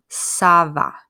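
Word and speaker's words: ça va: using Sava Sabah and I want you to look at how this is spelled it's with a CCD and so it almost kind of makes it look like an S that's to remind you that this is making the S sound okay so don't say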